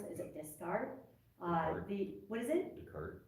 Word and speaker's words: Descartes: You know that old, I can never pronounce his name correctly, I'm going to mispronounce it. Is it Descartes? What is it? Descartes, thank you.